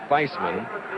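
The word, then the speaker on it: Theismann: at Notre Dame, says the pronunciation of this sophomore's name is Feisman, like in Heisman.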